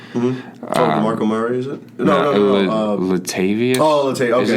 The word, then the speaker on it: Latavius: Latavius? Oh, Latavius. Okay, Is it Latavius? Yeah, Latavius Murray.